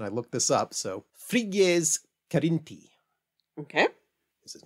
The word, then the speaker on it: Frigyes Karinthy: In his 1916 novel, Voyage to Faramido, the Hungarian author, and I'm going to try and actually do his name in reasonably close Hungarian pronunciation. I looked this up. So, Frigyes Karinthy.